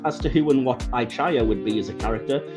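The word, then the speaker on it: I-Chaya: to ihia apparently uh Fontana who wrote the episode insists that we're all pronouncing it wrong she actually wanted it to be pronounced ichaya but the voice actor that they hired to play Young Spock pronounced it igeya and the rest just kind of had to fall in line and copy it so oops getting a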